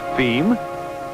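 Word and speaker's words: Fim: And as for distribution within Brazil, F-I-M, pronounced FEM, being, yes, you've guessed it, Portuguese for the end.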